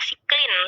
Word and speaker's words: cyclin: Oke ya, jadi bacanya siklin ya, cyclin atau cyclin dan juga cyclin dependent kinase, atau kalau bahasa Indonesianya siklin sama CDK gitu ya.